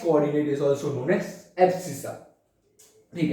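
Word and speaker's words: abscissa: तो guys, x coordinate को बोला जाता है एब्सिसा। हाँ गाइस, देखो, एक्स कोऑर्डिनेट को बोलते हैं हम एब्सिसा, उसका स्पेलिंग है ABSCISS।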